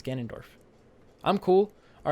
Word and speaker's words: Ganondorf: saying his name wrong it's not gandorf it's ganondorf i'm cool all right